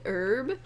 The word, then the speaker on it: herb: Because they're just like, oh man, I hate when people say, they don't pronounce the H in herb, right? They don't, Yep. when they go like herb instead of herb, herb, like they're supposed Yeah, to.